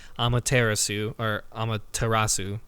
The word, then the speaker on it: Amaterasu: You play as a wolf, which you pointed out, a wolf goddess, the goddess of the sun, Amaterasu, I think is how you pronounce it.